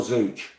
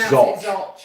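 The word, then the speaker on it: Zouch: Is it Zoch or Zooch? No, it's spelled Zooch, isn't it? But it's Zoch. Oh, right. Yeah, it's Zoch.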